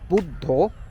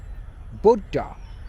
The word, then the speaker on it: Buddha: maybe even or Buddha in Native Bangla we pronounce him as buddho Buddha in English phonetics SRI Krishna aren't there